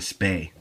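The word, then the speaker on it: spey: this one it's called your it's called the spay and it's spelled s-p-e s-p-e-y and this was the common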